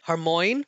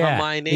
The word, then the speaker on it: Hermione: When people used to read the book before the movies came out, I know many people used to say Hermoine rather than Hermione.